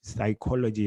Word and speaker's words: psychology: is silent you know in english psychology is a p but they say the p is silent um anthony antony has